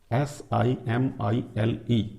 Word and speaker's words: simile: Now very सिंपल एंड mostly used, very often used figure of speech, simile, S-I-M-I-L-E, this is pronounced as simile.